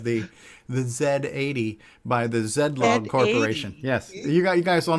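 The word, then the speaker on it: Zilog: to frodo is the the z80 by the zed log corporation yes you guys all know that company's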